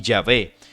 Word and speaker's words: Yahvé: Las dos pronunciaciones más comunes son Jehová, una pronunciación latina utilizada desde el siglo XVI, y Yahvé, un intento de pronunciar la palabra según una interpretación hebrea más literal.